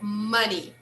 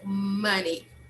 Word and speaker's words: money: say the word again money money money okay good even though we we write this word we spell this word with o we should pronounce the sound of uh uh so money money okay it's a